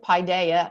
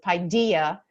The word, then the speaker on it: paideia: The authentic Greek way of pronouncing is paideia, but very frequently in America, you will hear folks pronouncing it paideia. You can also hear another version of it, as Kevin and I spoke about, that we also like, is Paideia. So depends on where you put your, where you accent your syllable.